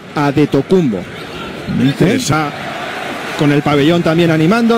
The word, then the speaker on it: Antetokounmpo: Antetokounmpo es como se escribe en griego, pero en griego se lee Adetokounmpo.